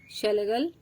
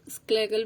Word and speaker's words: Schlegel: So it is Schlegel, या इसको आप स्क्लेगल भी बोल सकते हैं।